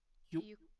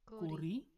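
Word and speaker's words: ゆっくり: Yukuri. Yukkuri.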